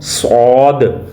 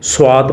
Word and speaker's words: صاد: قا، خالا قا۔ آگے ہے صاد، اکثر لوگ اس کو پڑھتے ہوئے سواد پڑھتے ہیں، جس طرح اردو لہجہ اختیار کرتے ہیں۔ یاد رکھیں، آپ نے اردو لہجے سے پرہیز کرنا ہے، بلکہ عربی تلفظ کے ساتھ اس کو پڑھنا ہے۔ صاد زبر صا، دال